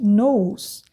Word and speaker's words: nous: Nous, aí vocês já estão vendo, ó, nous se escreve nous, mas o U em francês é U, e o S eu não pronuncio, então nous.